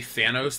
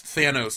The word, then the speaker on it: Thanos: I love how every foreign person though can't say Thanos; they say Thanos. And I'm just like, look it. His name's Thanos. He was created in America. That's how it's fucking pronounced.